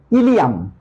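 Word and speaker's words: ileum: লেভেলের হবে তো স্যার কনফিউশন জিনিসটা কি দেখো ইলিয়াম আমরা একটু আগেও পড়লাম যে বিউডেনাম জেজুনাম ইলিয়াম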